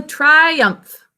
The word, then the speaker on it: triumph: it's a victory so triumph can you all say it with me triumph two syllables that umph syllable is fun to say or i are the